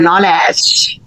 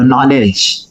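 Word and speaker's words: knowledge: ठीक है ये नॉलेज कई विद्यार्थी नोलेज पढ़ते है नोलेज गलत है ठीक है और ज्वेलरी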